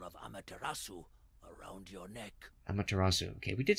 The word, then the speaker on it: Amaterasu: Amaterasu.